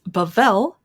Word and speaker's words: Bavel: Well, I just got back from checking the pronunciation of this restaurant. It's Bavel, Modern Recipes Inspired by the Middle East.